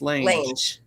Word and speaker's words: Lange: I thought it was Lang, but he says it's Lange. Lange.